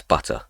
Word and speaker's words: butte: I point out that this word is pronounced butte.